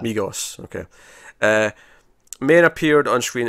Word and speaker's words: Migos: Or Mijos, however you pronounce it. I think you might have been right the first time. Migos, okay.